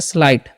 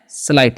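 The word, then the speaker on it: slight: चलिए इसे पढ़ते हैं स्लाइट, इसे क्या पढ़ते हैं, स्लाइट, जी से यहाँ पर साइलेंट होता है।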